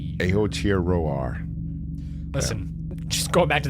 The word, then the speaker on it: Aotearoa: So she says, yes, you also butchered Aotearoa, but she actually pronounces it. It's Aotearoa. Aotearoa.